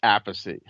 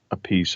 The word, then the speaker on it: Appice: because my father said apathy and carmine used to say apathy and then when he played with Rod Stewart rod pronounced it a piece and he changed it to a piece we have a battle